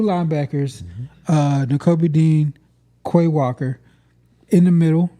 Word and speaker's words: Nakobe Dean: I ain't gonna try and pronounce that. Quiddy Pay. Yep. And then linebacker Newbeck Dean. Nakobe Dean.